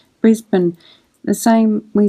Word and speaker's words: Brisbane: Some Americans pronounce Brisbane, which is how it's spelt, but Australians usually just say Brisbane.